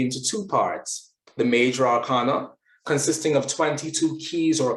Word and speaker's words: arcana: we can see it actually has a long diacritical marking which means that it should be pronounced arcanum and therefore it should be arcana but all habits die hard so arkana or arcana